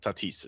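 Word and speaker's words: Tatís: I have Yeah, Schwarber, Tatus, and Donovan or the Tatis if you want to say it correctly.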